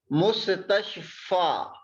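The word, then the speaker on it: مستشفى: We pronounce it alif if it has no dots.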